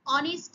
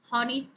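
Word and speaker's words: honest: একটি সৎ ব্যক্তি অ্যান অনেস্ট ম্যান, এখানে কিন্তু উচ্চারণ হনেস্ট নয়, এই যেখানে সাইলেন্ট।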